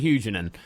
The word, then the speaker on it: Huguenin: Yeah, Terry Huguenot. It would be actually be Terry Huguenin, but Thierry I can take the names if you want me to.